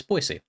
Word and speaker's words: Boise: I wanted to make sure that it wasn't Boise or Boise, but it's Boise.